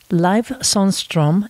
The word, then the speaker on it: Sundström: And then if I do it a little bit in a Swedish style, it would be Sundström, or you could say Leif Sundström, a very anglicized way to say it.